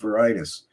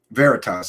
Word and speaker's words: Veritas: his work with project varitus O'Keefe and his team Veritas I'm sorry I always mispronounce it it's veritas uh James okay Keith